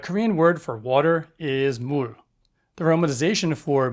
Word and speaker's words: 물: If I was going to spell it in English, I would write MOOL.